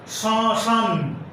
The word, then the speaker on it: শ্মশান: যেমন স্মৃতি একটি শব্দ, এই শব্দের শুরুতে মফলা আছে কিন্তু ময়ের উচ্চারণ হবে না, আনুনাসিক হবে। একইভাবে শ্মশান, স্মরণ এই সমস্ত শব্দের শুরুতে মফলা আছে, এই ময়ের উচ্চারণ হবে না।